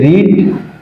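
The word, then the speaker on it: read: এই রিড এই এটার ভিথি হল একই বানান। কিন্তু উচ্চারণ একটু পার্থক্য আছে রেড।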